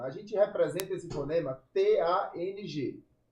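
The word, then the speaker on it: 汤: T A N G. Esse é o fonema. Exato. Começa a letra T. Ela vai ser um pouquinho diferente do português. A gente vai falar soprada.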